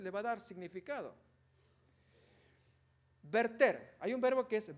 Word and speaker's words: verter: invertir revertir convertir pero el verbo original es verter sería vertir eh pero la pronunciación correcta es verter bueno notemos ahí entonces